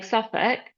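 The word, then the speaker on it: Southwark: And they do say the station name out loud, but some station names like SuffK is spelled a lot different than what it's pronounced.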